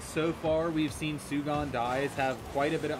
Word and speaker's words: Sugondies: And now, Sugondies, or Sugondies, however it's pronounced. Sugondies, yeah.